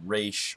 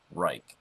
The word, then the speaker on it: Reich: it amazes me that nobody knows how to pronounce right I mean I watch other YouTube videos and it's race or great it is right like a third right